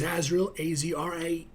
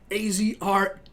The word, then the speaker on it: Azrael: And, yeah, once again, my name is Azrael, A-Z-R-A-E-L, Azrael.